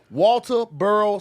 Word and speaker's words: Walterboro: Walterboro, South Carolina.